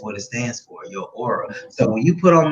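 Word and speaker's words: Oera: It's spelled O-E-R-A. Okay. Now, if you look at it, you would just think era, which is cool because it's like it's a whole nother era, like old era. But it's pronounced Aura.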